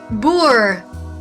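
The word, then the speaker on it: Boer: the South African Republic I'm sorry what's that boor B oh okay yeah that's how you say it sorry about that and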